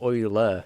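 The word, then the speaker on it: Euler: Uh my teacher pronounces oiler the same way as you do. How I how I feel like I'm pronouncing it the same way. Oiler. Like oil, right?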